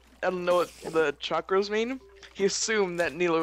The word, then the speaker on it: chakras: me clearing my chakras oh chakras you pronounced it weirdly i know what chakras are you guys said like chalk rose wasted chakras okay i'm finally at